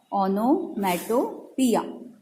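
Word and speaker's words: onomatopoeia: इसका प्रोनाउंसिएशन आपको याद रखना है, ओनोमेटोपिया.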